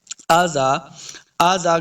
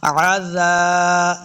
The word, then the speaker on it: عذاب: من عذاب، من عذاب، عین کو تلفظ کے ساتھ پڑھنا ہے، بعض لوگ پڑھتے ہیں آزا کریں گے تو یہ حمزہ کی آواز ہے، حمزہ نہیں بلکہ عین کا تلفظ ہم نے پڑھنا ہے، عزا، زال کو نرمی